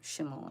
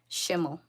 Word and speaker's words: Schimmel: is Schimmel, and that's how you pronounce it, like sh. So yeah, it's a different kind of last name, but yeah. No, not like xylophone. It's like a shimmy, like the dance or something, like Schimmel.